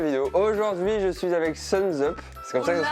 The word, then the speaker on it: Sunsup: Aujourd'hui, je suis avec Suns Up. C'est comme ça que ça se prononce.